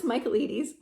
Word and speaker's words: Michaelides: that I had to look up how to pronounce, because I was like, what even is that? But it's Alex Michaelides.